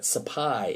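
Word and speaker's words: Sepoy: fought back one of them is called the sapai I know it looks like SI POI but sapai is the correct pronunciation uh the supply Rebellion or Mutiny where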